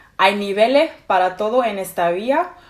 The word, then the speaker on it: niveles: That is how you would usually pronounce niveles, but again, she doesn't pronounce the ending of the words, of most words. So she says, instead of niveles, she says nivele.